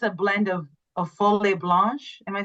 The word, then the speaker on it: Folle Blanche: the most, I think it's a blend of Folle Blanche. Am I saying that right? And Chardonnay. Whole. So I said it wrong. Folle. Folle Blanche.